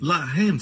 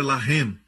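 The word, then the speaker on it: לָחַם: Se escreve da mesma maneira. Lamed, Het, Mem. Mesma escrita, a única diferença é a pontuação. Eles colocam os pontos em diferentes lugares. Um é Lehem, o outro é Lahem.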